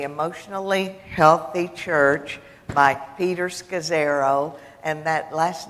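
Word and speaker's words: Scazzero: in that the emotionally healthy church by Peters cos arrow and that last name is spelled SCA ZZ ero and basically his premise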